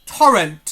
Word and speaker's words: Torrent: pronounce it cuz obviously there's two ways to uh pronounce uh the word torrent. There's how I'm saying it right now was the t sound and and there's also the torrent. So it's a to sound.